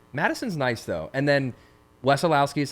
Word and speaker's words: Wesolowski: that's common um Madison's nice though and then Wesolowski is how you say your last name yeah Madison weselowski U but but people say wesso people call